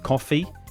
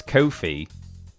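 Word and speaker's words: Ko-fi: Everyone thinks it will be quite rightly thinks it will be be pronounced coffee because it's like buy me a coffee, but it's Kofi, which rhymes with no fee, they say, because apparently,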